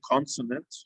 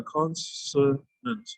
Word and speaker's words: consonant: so with the word consonant you've got to say yeah the n sound must be pronounced and then so the s sound must also be pronounced clearly consonant i like so